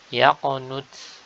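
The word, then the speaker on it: يقنت: Yaqnut, yaqnut. Di sini dengan huruf ta sakinah.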